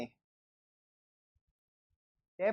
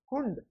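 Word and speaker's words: Hund: ये एक्चुअल में लास्ट में अगर इसको डी आता है तो उसको टे पढ़ते हैं, टे पढ़ते हैं।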